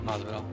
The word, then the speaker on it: Masvidal: The next one would be your one of one Mazdaval. Is that how you say his name? Mazdaval? Masvidal.